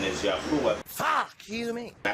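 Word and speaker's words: יהוה: And I said that the pronunciation is Yahuwah. I said that the pronunciation is Yahuwah.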